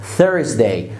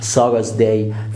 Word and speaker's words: Thursday: عندنا بعد كده اكبر المشاكل يوم الخميس Thursday مش Thursday Thursday.